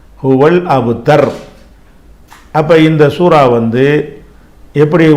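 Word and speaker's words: هو الأبتر: ரூனா அப்ப அல் அபுதரு ஹுவல் அபுதரு அபுதருன்னு சொல்லக்கூடாது. இது சூரா முடிக்கிறதுனால இதோட இந்த ஆயத் முடிஞ்சு போறதுனால நிறுத்தி நிறுத்திரணும். ஹுவல் அபுத்தர் அப்ப இந்த சூரா வந்து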